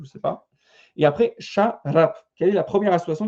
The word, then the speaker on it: şarap: Donc, du vin en turc, c'est şarap. Ok, alors le S, c'est dit comme ça se prononce ch.